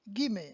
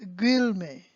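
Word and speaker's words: guillemets: up give me okay notice how I pronounce it gimme and not Grill me okay we're going to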